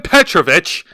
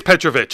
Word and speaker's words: Petrovic: It is Petrovich, according to WWE. Not That's Petrovic? No, it's Petrovich. I had to watch a few NXT shows and I'm like, oh, so they're pronouncing it as Petrovich, not Petrovic.